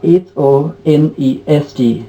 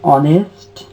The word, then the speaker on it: honest: is our similarly uh h o n e s t honest honest is there this is also uh it starts from consonant letter but the pronunciation is vowel so dear students uh